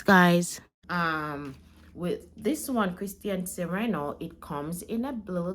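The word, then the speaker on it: Christian Siriano: butcher the pronunciation of this perfume the actual pronunciation is Christian Serano and I definitely did not see that throughout the course of this video so my apology the correct pronunciation is Christian sirano thanks guys um with this one Christian Sereno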